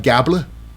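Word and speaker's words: Gable: It's Chad Gabla, rhymes with Tabla, Otis, and Maxine Dupree.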